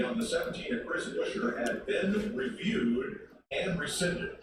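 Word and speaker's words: Buescher: It's Busher, not Bushler.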